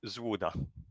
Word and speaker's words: ZLUDA: it correctly well it's it's written incorrectly but you would pronounce it zuda ah okay yeah I